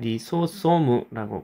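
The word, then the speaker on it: リソソーム: 그리고 또 여기 리소솜소이라고 하는 것도 있 한국말로는 리소이죠. 일본말로는 리소소무라고 발음을 합니다.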